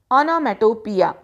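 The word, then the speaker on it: onomatopoeia: तो ये जो पोइटिक डिवाइस है ये क्या कहा जाएगा इसको, ऑनोमेटोपिया। ऑनोमेटोपिया, इस तरह से इसका प्रोनाउंसिएशन होगा।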